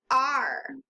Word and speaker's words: are: if you try to sound it out, you might say a-r-eh. But that's not quite right. This tricky word is the word R. Yes, just like the letter R. This is the word R. It's spelled A-R-E, as in we are happy. The whole word is completely tricky because it doesn't sound like what it should be.